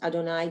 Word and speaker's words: Adonai: And now we have et Adonai, and the Yud He Vav He is pronounced Adonai. Do not try to pronounce it.